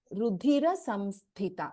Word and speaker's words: रुधिरसंस्थिता: This is not Rudhira, it is Rudhira Samsthita. There is Hasva here in Ikara. So, Rudhira Samsthita.